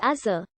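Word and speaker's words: עזה: The Hebrew name of the city is Azar. The ayin at the beginning of the word represented a voiced velar fricative in Biblical Hebrew, but in modern Hebrew, it is silent.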